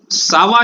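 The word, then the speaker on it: ça va: और सावा short form है कोमा सावा का। ये सी के नीचे सेडिला लगा हुआ है, आपको याद होगा तो क का साउंड स बन जाता है।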